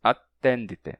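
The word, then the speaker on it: adtendite: E o ad do prefixo não está escrito com T, não está escrito com assimilação. Então, em vez de attendite, né? De attendite, está escrito com D. Mas, quando você pronunciar, você faz a assimilação e diz attendite, mesmo assim.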